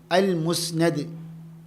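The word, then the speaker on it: المسند: അപ്പോൾ എന്താണ് ഇതിന്റെ അർത്ഥം എന്താണ് അൽ മുസ്നദ് എന്ന വാക്കിന്റെ ഉച്ചാരണം മീമിത് നൂൻ മീമിന് നൂനിന് ഫത്ഹും അൽ മുസ്നദ് എന്താ അങ്ങനെ പറയാനുള്ള കാരണം അൽ മുസ്നിദ് എന്ന് പറഞ്ഞാൽ അർത്ഥം മാറി ഇസ്നാദ് ഉദ്ധരിക്കുന്ന ഹദീസ് പണ്ഡിതൻ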